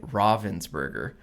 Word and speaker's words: Ravensburger: we should um PS in Germany we say Ravensburger because that's how the town is pronounced in which the company is based you know of course